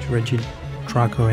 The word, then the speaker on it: Regidrago: REGIDRAGO.